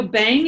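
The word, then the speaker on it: Bhang: high times and you are the CEO of bang Corporation and every time I use that name I always spell it immediately b h a n g can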